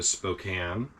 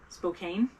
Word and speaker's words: Spokane: we also went into Spokane did I say it right Spokane Spokane it's spelled k a NE E I want you to know but a First Nation pronounce it Spokan I believe you I